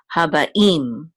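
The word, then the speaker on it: הַבָּאִים: It's a tipcha, and so we know that the accent of this word is on the last syllable. So habaim.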